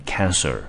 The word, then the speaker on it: cancer: cancel，舌头后面是不卷的。癌症这个字念成 cancer，舌头要把它卷起来，因为它有一个 er，看到 er 你就知道这个舌头要卷起来了。好，所以一个字念成 cancel，取消，一个是念成 cancer 是癌症，两个字是不一样的。好，接下来我们看一下 overlooked 这个字。好，它的原型动词大家应该都看得出来是 overlook。